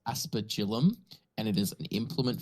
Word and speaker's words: aspergillum: anyone was wondering I just Googled it it's pronounced aspergillum and it is an Implement for sprinkling holy